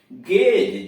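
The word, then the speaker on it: gaze: जैसे गेज, जी ए जेड ई, जी के बाद ए आया इसलिए गे पढ़ेंगे, गेज।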